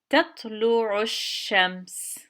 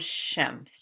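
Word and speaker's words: الشَّمْس: so together we say shems you see there's a shadda here so this will go straight to the shadda and connect to it and we'll say shems just cross out that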